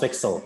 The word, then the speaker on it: fxl: here today and yeah it's pronounced pixel by the way uh for no other reason than than slightly poking fun at the english language because why not there